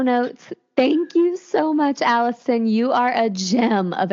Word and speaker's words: Allyson: Tok um under uh my name which is Allison but it's spelled with a Y so a l l